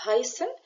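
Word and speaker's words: heißen: مهمين زي ما قلنا فعل اسمه هايسن وتشارفس اس بتتنطق اس يبقى هايسن وده معناه يسمى او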